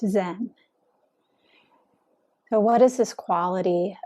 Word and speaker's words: Zen: made its way to Japan where it's pronounced Zen so what is this